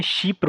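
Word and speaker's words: Chypre: Mediterranean country ठीक है उसको फ्रेंच में शिप्र बोलते हैं शिप्र शी प्र शिप्र एंड इट्स अ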